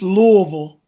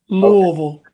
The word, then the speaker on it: Louisville: It's Louisville. It's just, you got to put a bunch of marbles in your mouth. Louisville. Okay. Louisville.